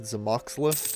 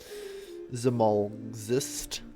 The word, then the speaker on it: Zamolxist: Zamoxlist is my bastardization of it. Zamolxist, I think is the correct way to pronounce it. I can't tell because LX should never occur in the English language. Zamolxist has to be the correct way to pronounce it because you can't connect these letters at all, so the vowel separation has to be there. Zamolxist, I assume then.